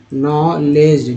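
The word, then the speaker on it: knowledge: India for नॉलेज, नॉलेज, देखिए नॉलेज, डी को यहाँ पर साइलेंट रखा गया है, तो नॉलेज बेस्ड, ए के बाद ई आया है तो बेस्ड हो गया है।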